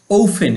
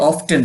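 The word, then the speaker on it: often: জানো এফডবলি ফ্রি মানি টাকা এটাও তোমরা জানো ওফেন এটা উচ্চারণ অনেকে অফটেন পড়ে আমরা ওফেন পড়ব ঠিক আছে ওফেন মাঝে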